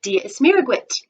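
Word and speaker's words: Dia is Muire dhuit: say diaguit and then to me they respond diaz miraguit that is how you say hello oh hello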